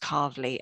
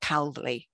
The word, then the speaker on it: Calverley: very very quickly be told that it is pronounced carvely and not cowley despite its spelling and that's because it comes